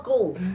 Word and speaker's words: coup: I smell a coup. Jason. I smell a coup. There's a plan. Coup. C-O-U-P. C-O-U-P, right? Yes. Coup. Okay. It's pronounced, phonetically it's pronounced C-O-O-O-O-O.